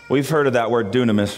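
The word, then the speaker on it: δύναμις: is a word in the Greek that is pronounced dunamis we've heard of that word dunamis right dunamis if if you're like why is he speaking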